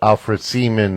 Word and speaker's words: Alfred Seaman: We got AlFred Seaman as a special guest tonight. I pronounced the name right?